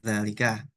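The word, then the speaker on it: ذلك: Nih, misalkan kalau ada dal, lam sama kaf, oh bacanya dzalika.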